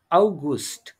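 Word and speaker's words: August: হুম হুম হুম আউট আগস্ট না আউগুস্ট ইয়া আগু না না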